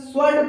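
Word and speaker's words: sword: यहाँ पे दोस्तों अगला हमारा है स्वर्ड। तो स्वर्ड में दोस्तों हम यहाँ पे सीधा स्वर्ड पढ़ रहे हैं। यहाँ पे दोनों उदाहरण में हमें डब्ल्यू का कोई उच्चारण नहीं करना पड़ रहा है दोस्तों।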